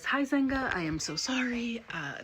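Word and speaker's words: Huizenga: 1987 millionaire H Wayne who is Zenga sorry if I pronounced that wrong hi quick editing note I am 100 mispronouncing this man's name throughout the entire video it is hi Zenga I am so sorry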